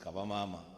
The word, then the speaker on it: Kavamama: teachers and students from Kavamama Academy. M speaker it is pronounced kabamama and loosely translated to mother is better.